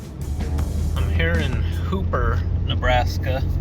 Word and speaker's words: Hooper: i'm here in hooper nebraska whereas the locals probably pronounce it hubber this is a pretty